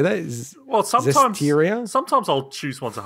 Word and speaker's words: Zestiria: Oh, Zestiria.